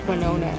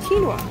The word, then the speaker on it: quinoa: He calls it quinona. I'm sorry, I didn't mean to laugh at him. But he goes, what is quinona? And it sounds like that, but it's pronounced quinoa.